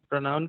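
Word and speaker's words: pronoun: और ये बहुत बार हम देखते हैं प्रोनाउन को लोग बोलते हैं प्रोनाउन या पर नाउन, नहीं बोलना है, पर नाउन नहीं बोलना है, प्रोनाउन भी नहीं बोलना है। आपका प्रोनाउंसिएशन क्या होना चाहिए? प्रोनाउन, ठीक है?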